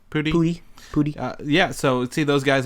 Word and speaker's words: Pudi: We said, how do you pronounce his last name? Pudi.